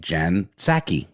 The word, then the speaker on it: Psaki: And you ask for, press credentials, essentially, to ask questions of President Biden's press secretary named Jen Psaki. Guessing the P is silent.